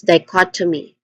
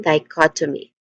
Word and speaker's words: dichotomy: When it comes to pronunciation, Di, there's four basic sounds, starting with D, which has a dip thong sound I. So d. And then the stress syllable is cut, which is the second syllable. And then awa sound for third syllable. Here it's a weak and stressed O vowel sound. And then it ends with me. Me which is a short e vowel sound. All in all this is dichotomy. Again dichotomy.